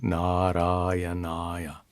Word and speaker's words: नारायणाय: is used in a familiar mantra, Om Namo Narayanaya. Salutations to Narayana. Listen again. Om Namo Narayanaya. This mantra can be intoned. Om Namo Narayanaya.